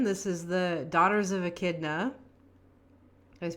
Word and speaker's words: Echidna: This is the Daughters of Echidna. Did I pronounce that right?